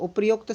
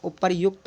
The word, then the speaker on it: उपर्युक्त: का शुद्ध हो जाएगा उपर्युक्त बोला जाता है उच्चारण का भी ध्यान रखेंगे आप लोग और लेखन का वे